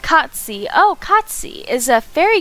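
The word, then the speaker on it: Cait Sith: The Cat Sith, pronounced Katsi.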